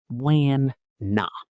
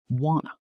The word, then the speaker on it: wanna: Wana na. Right. But native speech is softer, more relaxed. Exactly. Wanna.